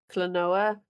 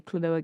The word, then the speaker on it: Klonoa: I never played any Klonoa games. I assume that's how you pronounce it. How do you pronounce? I don't think I've ever seen them before. Yeah, Klonoa.